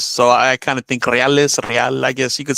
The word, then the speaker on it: reales: so you actually say reales. I know a lot of people in the Midwest say real or Yeah, they say real.